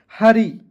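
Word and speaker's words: hurry: अंतिम में वाई आएगा तो इसका उच्चारण बड़ी ई के रूप में। तो क्या हो जाएगा दोस्तों? हरी क्या पढ़ेंगे दोस्तों?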